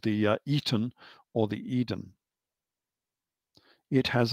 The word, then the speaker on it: Aten: That's the normal pronunciation, but it's actually spelt with a reed glyph. And so the Artem is actually called the Eton rather than the Artem.